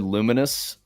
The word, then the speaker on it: Lumines: Oh, we talked a little bit about, I don't know if you guys have ever played Luminous. It's spelled Lumines, Lumines.